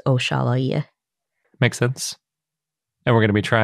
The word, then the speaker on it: Oxalaia: We also have Dinosaur of the Day, Oxalaia, which we usually pronounce Oxalaia. I think I pronounced it Wahalia last time, and that was also wrong. So we're all over the map on the pronunciation of this one.